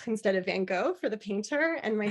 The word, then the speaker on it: Van Gogh: finding out that um you're supposed to say Van Gogh instead of Van Gogh for the painter and my sister Chrissy who's